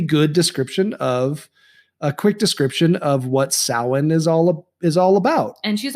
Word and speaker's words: Samhain: And then Rhonda gives us based on our phobia, she gives us a really good quick description of what Samhain is all about.